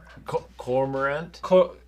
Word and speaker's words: cormorant: Cormorant?